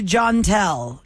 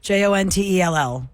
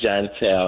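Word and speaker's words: Joanteal: we go on to john tell j-o-n-t-e-l-l i'm gonna assume that i'm saying it right john tell hello it's it's hi it's gentile it's j-o-a-n-t-e-a-l jontel welcome to the relationship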